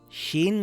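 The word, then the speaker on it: ش: Sheen is a light letter. Sheen makes a similar sound to the SH in the word shell or the word shoe.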